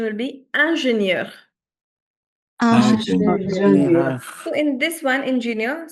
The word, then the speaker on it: ingénieure: the pronunciation will be ingénieure. So, in this one, ingénieur, specifically, the spelling changes but the pronunciation remains more or less the same.